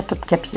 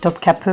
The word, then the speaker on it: Topkapı: magnifiques et qui n'existent qu'à Topkapi en fait. Donc, ou Topkapı plutôt, bien prononcé.